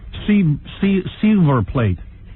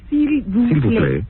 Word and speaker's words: s'il vous plaît: Silver plate. S'il vous plaît.